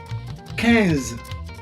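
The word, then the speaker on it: quinze: t 14 is ctors ctors ctors 15 is cans cans and says is 16.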